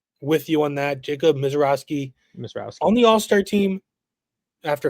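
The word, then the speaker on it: Misiorowski: Is that how you pronounce it? Yeah, and me and Ben are with you on that. Jacob Mizrakowski.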